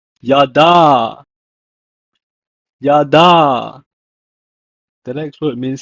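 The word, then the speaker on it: ידע: In Hebrew, is pronounced as yada.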